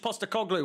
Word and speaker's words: Postecoglou: Ange Postecoglou, was it? Perfect pronunciation.